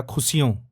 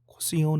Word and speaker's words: खुशियों: आप कर सकती हैं, अच्छा वॉइस ओवर डेफिनेटली कर सकती हैं, पर एकदम से एक शब्द आया खुशियों, खुशियों नहीं खुशियों, श है वो।